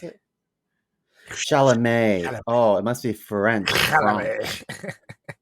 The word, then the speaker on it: Chalamet: How you pronounce it? Chalamet.